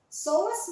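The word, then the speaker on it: psoas: tight soas muscles and very tight aductor muscles soas muscles spelled PS o a s is a power muscle phonetics it's spelled p Asin Papa S as in Sher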